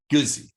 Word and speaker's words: Guzzi: Do you pronounce it Guzzi or Guzzi? Yeah, Guzzi is good. Guzzi.